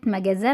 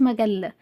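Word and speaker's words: magasin: لو سبيشي سوبير مارشي محل مجاز ز مجز كلمه مجزا محل مش مجله مجزا الاستاد لوستاد لوستاد سوبر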